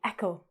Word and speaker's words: echo: This word, etcho We say echo. Again, the CH becomes a K.